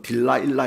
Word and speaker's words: 딜라일라: 여성이 등장합니다 데릴라 하지요 영어식 발음은 딜라일라 있니다 여분 딜라일라 그러면